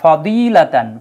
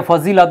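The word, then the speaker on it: فضيلة: আছে ফার্সি ভাষার এজন্য ফার্সি ভাষায় দোয়া কে বলা হয় জ এজন্য অনেকে ফাজিলাত বলে ওয়াজুহা বলে ফজিলত তারপরে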